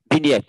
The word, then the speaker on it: vignette: So, sounds French to me, actually.